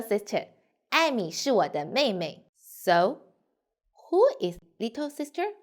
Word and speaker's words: 妹妹: what my easy do may may pay attention here the second may we need to read short and lightly so we say may may may yes very good